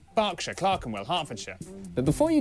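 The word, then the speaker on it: Berkshire: silent Norwich Beric suuk e r is pronounced R barkshire clarenell hartfordshire but before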